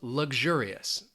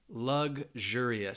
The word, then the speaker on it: luxurious: Angela says, how do you pronounce luxurious? Luxurious. So for me, it almost sounds like that G, that X, when I say it quickly, luxurious.